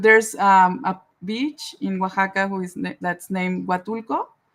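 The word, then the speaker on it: Oaxaca: good how do you say waka isaka is Waka I actually pronounced it right you pronounced it right yeah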